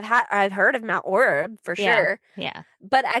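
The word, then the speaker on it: Orab: Do you say orb or do you say Ora or how do you how do you say it? Orb. Okay. Cuz on the show they were saying like Ora or something and I'm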